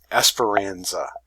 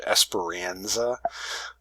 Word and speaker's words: Esperanza: for the character so an English pronunciation of this name would be something close to Esperanza so you can see that that is sort of an a widened sound kind of a more nasally sound Esperanza and so you